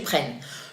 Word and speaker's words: prennent: As always, you do not pronounce the final ENT. Ils prennent.